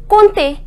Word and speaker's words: compter: We neither pronounce M nor P. The pronunciation is compter.